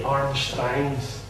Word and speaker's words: Armstrong: the Reivers are the Armstrongs and the Grahams. You'll see it in Old Scots, the Armstrongs are referred to as the Armstrangs, is the way it can be often pronounced.